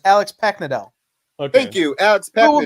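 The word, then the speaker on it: Paknadel: story, the Demons part, was written by Alex Parknad. Kyle, you know how to say this name. He's got a popsicle. Keep going. No, I was getting set up for the next show. It's Alex Packnadell.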